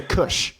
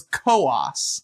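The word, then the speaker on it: Coös: I'm going to say cush. It's that good Kush New Hampshire. Oh my gosh. Okay, so it's Kessan was actually pretty close. So, it's co-ass.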